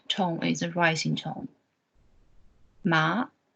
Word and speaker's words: mā: For example, for the syllable ma, there could be 5 different tones. The first tone, the horizontal one, this one, ma, it's a high level one. The meaning is mother.